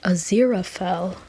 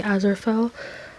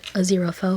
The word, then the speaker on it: Aziraphale: I did figure out how to say his name is Azera fell but for some reason I wanted to say Azel um but I will continue to say a zero felll from now on take